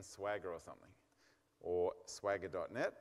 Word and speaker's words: Swagger: way of doing it Swagger okay if you can't remember it it rhymes like with MC Jagger I've got little girls